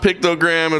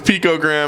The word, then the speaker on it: picogram: It's not pictogram, it's picogram.